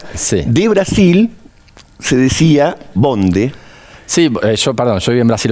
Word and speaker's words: bonde: De Brasil se decía bonde. Sí, yo viví en Brasil 20 años, ¿no? Y en Brasil se dice ubonde. ¡Ay, te sale re lindo! ¿Cómo se dice? Sí, bonde.